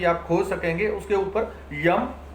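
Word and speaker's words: यं: उसके ऊपर यम, य ऊपर बिंदी अर्थात यम संस्कृत का शब्द है, ऊपर बिंदी ये म में बोलती है, तो यम।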